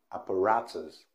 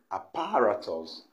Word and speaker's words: apparatus: that's always wrong is apparatus apparatus the mystery stress by stressing it in the second syllable apparatus which is wrong the right pronunciation is